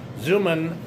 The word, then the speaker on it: Xuman: He goes by Jim, but his full name is James Darren Zuman, and it's spelled X U M A N. Zuman, after doing research on